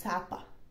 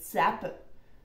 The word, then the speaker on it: Capa: like named Sapa is it's a my real name which is but on Cyrillic so when you read it it's like tapa tapa maybe Americans will pronounce it like Zappa which is cringy I don't know